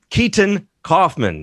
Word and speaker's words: Keeton Coffman: It's KEETON COFFMAN. There we go. That's right, that's a better pronunciation.